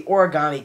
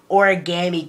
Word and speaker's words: origami: Obviously, he is a murderer, by the name of the Origami Killer, or as every person in this game likes to say, Origami Killer. I don't care where you come from, it's origami. Pronounce it right.